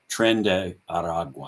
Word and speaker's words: Tren de Aragua: Most of this is related to an organization called Tren de Aragua, I think is the pronunciation.